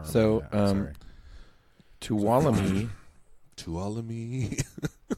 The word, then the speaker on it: Tuolumne: Tuolumne. Tuolumne. Do you pronounce the N? No.